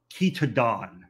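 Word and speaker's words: Chaetodon: to the genus of kitadon in this case ch is sounded like a k think of chemistry uh think of chameleon you would not say chameleon you would not say chemistry um the etymology for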